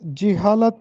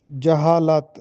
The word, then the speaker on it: جہالت: بتانا ہے لفظ کا۔ عام طور پر ہم لفظ جہالت پڑھتے ہیں، جبکہ درست تلفظ ہے جہالت، جیم پر زبر کے ساتھ۔ اسی طرح ایک اور